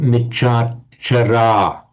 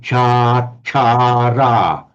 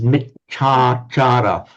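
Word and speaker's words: micchācāra: It's from the word achara, meaning conduct. And you would say achara, it's achara. So micha achara, misconduct, was michachara. Now, a lot of English people chanting this go to michachara, because in the phonetics of English, it's a little bit unnatural for us to have these three one after the other, michachara.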